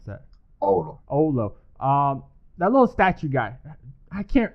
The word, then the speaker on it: Oulu: You live in, how do you pronounce it? Ula? How do you pronounce that? Oulu.